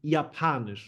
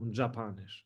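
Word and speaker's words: Japanisch: Dutch ZN English English pay attention to the J it's Yan on yanish not Japan japanish okay German pronunciation is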